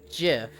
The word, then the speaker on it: GIF: the world love you heck GIF pronounced with the G sound though M tomato tomato ha